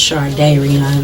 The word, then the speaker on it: Shardayreon: Am I saying your name? When I say Shardayreon? It's pronounced. It's close enough. Shardayreon. Okay. It's pronounced Shardayreon though.